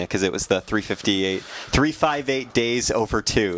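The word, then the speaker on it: 358/2 Days: it was the 358 358 days over two that's how you actually say that again uh yeah that's actually how you say it even though it looks nothing like that that is the official way to say that game title interesting trying to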